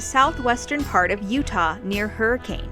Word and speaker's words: Hurricane: Now this arch is found in the southwestern part of Utah near Hurricane, or how the locals say it, Hurricane.